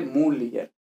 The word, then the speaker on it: mulier: Mulier, mulieris, que lógicamente significa mujer, pues lógicamente femenino, ¿vale? Eh, Mulier, no sé que si antes he dicho Mulier, Mulier, ¿vale? muy leer con el acento en la U y ya está.